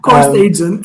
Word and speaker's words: Course Agent: So in terms of how it got to Course Agent Course Agent AI, I think the AI is silent at the moment because it's Course Agent.